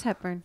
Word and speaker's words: Hepburn: Am I saying the name wrong? Am I totally wrong? Oh, it is Hepburn.